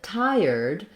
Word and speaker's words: tired: in American English um in tired we have the IR dip thong so it's like words like fire and higher um uh I'm writing higher two different ways so um I think thinking about higher versus higher it's the same sounds but in tired it really helps to think of it as two syllables rather than thinking trying to um put it all together so I'm breaking it here